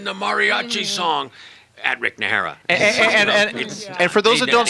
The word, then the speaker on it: Najera: is he singing the Mariachi song at Rick nahara and for those that don't speak Spanish n